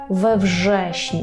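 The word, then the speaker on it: we wrześniu: подібна вжещень ве вжещню Зверніть увагу що кажемо в ве вжешню щоб нам просто було простіше це вимовити Так бо в вжешню чуєте так можна вдивитись тому кажемо ве вжешню ве вжешню учньовє ідо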